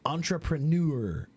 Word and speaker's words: entrepreneur: Entrepreneur is on the third syllable because it's French.